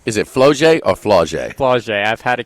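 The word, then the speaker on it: Flau'jae: Flauget. I've had to correct myself. Oh, really? Flauget. Because camouflage is to like Flauget?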